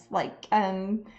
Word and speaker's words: Hautotes: It's Hautotes, oat, like oat cuisine, but it doesn't have an E because it's totes, like tote bags, and you put the E in the tote bag, so it's a combination of those two words.